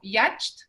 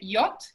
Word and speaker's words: yacht: Por ejemplo, estas dos palabras, si uno no sabe, no las conoce, las podría pronunciar como yacht o igauge. Pero la verdad es que se dice yacht y gauge.